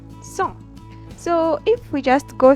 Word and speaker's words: cent: And then we have 100, which will be pronounced simply as cent.